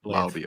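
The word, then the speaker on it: Laube: Is it Lobb or Lobby? I'm bad with pronunciation. Lobby. Okay. Lobby.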